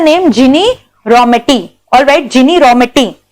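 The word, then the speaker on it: Ginni Rometty: जिनी रॉमेटी, all right, जिनी रॉमेटी। Actually it is Guinea रॉमेटी, बट I pronounce it एज जिनी रॉमेटी, ताकि तुम लोग को याद रहे।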